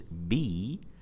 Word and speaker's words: book: So this word is pronounced book as a short vowel sound, book. We don't pronounce it book. We don't do that. We don't say it like this. We say it book with a short vowel sound. And this short vowel sound in this particular word is represented by the combination of letters double O.